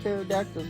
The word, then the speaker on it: pterodactyl: You know, pterodactyl starts with P-T-E-R-O-D-A-C-T-Y-L. The P is silent.